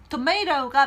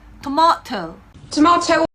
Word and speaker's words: tomato: 하지만 tomato만이 맞는 발음은 아닙니다. 우리나라에서는 아무래도 미국 영어, 미국 발음이 조금 더 이제 보편적이죠. 예, 그래서 미국 영어 발음으로, 미국식 발음으로 할 때는 tomato가 맞습니다만 영국으로 넘어가시면은요 이렇게 발음합니다. tomato 또는 tomato T 발음을 좀 더